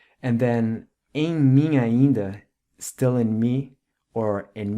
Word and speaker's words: em mim ainda: Pay close attention to the pronunciation. Em mim ainda. Each of these words has what's called a nasal sound, which, as we saw earlier with the words grande, momento, realmente, and sentir, has this ng quality to it, like em and in.